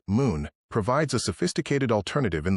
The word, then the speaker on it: MXXN: The mixologist MXXN for the strict non-drinker who appreciates the craft of mixology MXXN pronounced moon provides a sophisticated alternative in the form of non-alcoholic THC infused spirits.